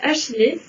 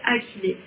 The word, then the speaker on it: achillée: On a le droit de prononcer achillée. Mais en fait, techniquement, ça devrait se prononcer achillée.